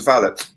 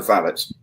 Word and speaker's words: valet: like a valet but on Downtown Abbey it's pronounced valet is that correct yes it's a valet yeset not a valet no that's absolutely yes a gentleman's personal gentleman is a valet there you go like Jes and J just